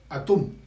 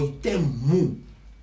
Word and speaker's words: Atum: Bien, entonces en egipcio se pronuncia Atum o Itemu, ¿sí?